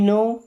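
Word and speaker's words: know: Okay let मी नो इफ you need anything. देखिए late मी्स होता है दो मींस मुझे नो। यहां पे के डब्ल्यू साइलेंट नो का मतलब जानना पता करना।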